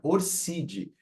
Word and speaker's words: ORCID: já criou o seu orcid você brasileiro brasileira pode pronunciar orcid Sem problema embora signifique orc ID que é uma identidade internacional para os intelectuais certo